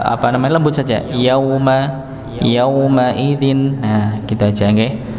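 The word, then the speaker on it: يومئذ: Yauma yaumaidin. Nah, gitu aja nggih. Maka tidak perlu dengan hentakan bukan tasydid nggih. Tapi dia sukun ya. Wujuhun yaumaidin ya. Yaumaidzin. Jadi bukan yaumaidin ya. Bukan seperti itu bacanya.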